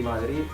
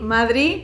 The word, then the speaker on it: Madrid: madrid pues es madrid madrid claramente con ausencia de sonido después no hay ninguna de y es una ciudad